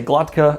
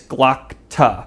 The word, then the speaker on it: Glokta: I always want to say Glotka. Apparently it's Glokta or Glokta.